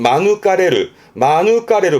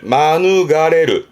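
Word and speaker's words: 免れる: 요거를 마누가레르, 의미는 같아요. 보통은 마누가레르 합니다만은 마누가레르라고 발음을 하는 부분도 있기 때문에 또 언급을 해주네요.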